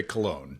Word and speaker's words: Cologne: from col I think I don't really know how to pronounce col say Cologne okay cologne I TR I